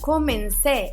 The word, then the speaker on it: comencé: Dice: cuando comencé a interesarme por el tema, la palabra comencé, el verbo comenzar en pasado. Fíjense que tiene un acento en la última vocal. Ese acento para nosotros es la tilde.